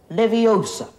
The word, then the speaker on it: Leviosa: Wingardium Leviosa.